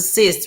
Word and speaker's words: cis: It was a cis. Remember that? Yes, but it's pronounced. But it's pronounced like cis. SISS. Right.